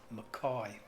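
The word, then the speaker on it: Mackay: town about halfway down the Queensland coast called McCoy spelled M ACK why some people pronounce it okay but it's actually those strange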